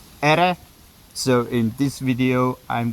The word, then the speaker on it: iri: Actually, there are signs that the actual word might have been ere. So in this video, I'm going to pronounce this as ere.